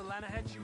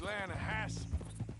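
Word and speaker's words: Lannahechee: The other day, I rode down to the Lanahechee River.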